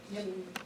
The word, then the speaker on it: jing: So, interestingly enough, the kidneys hold something called the You're going to help me pronounce it, the jing? Jing.